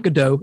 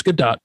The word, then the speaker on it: Gadot: Since then, other actors, writers, and crew members, including Gal Gadot, which I found out is not Gadot, it is Gadot, so I'm going to say it right from now on, and Michelle Trachtenberg, have